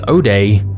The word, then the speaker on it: zero-day: A zero-day, sometimes pronounced O-day, is essentially a flaw in either software or hardware for which there is no existing patch or fix.